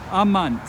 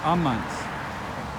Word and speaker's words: amant: Amant. They love. The stress falls on the second to last syllable. Amant.